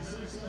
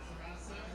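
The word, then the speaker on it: SRASA: Sarasa actually is the correct pronunciation of that.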